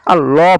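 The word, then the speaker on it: الله: যাই হোক, আপনারা এখানে আল্লাহ শব্দ উচ্চারণ করার সময় আল্লাহ পড়বেন, লা পড়বেন না।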